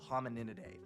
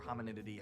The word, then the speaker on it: Hominidae: The word hominid is the abbreviated form for the family of animals called Hominidae or Hominididae, however you want to pronounce it.